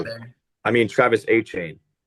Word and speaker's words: Etienne: Um, but I'm gonna stick with my running back one here and take Travis Etienne. Good pick. Need a running Oh, back there. I mean Travis A Chain.